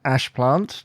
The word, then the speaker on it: Ashplant: it out um and your name is ashplant just to know so that's a h p l a NT have I pronounced that correctly you have pronounced that correctly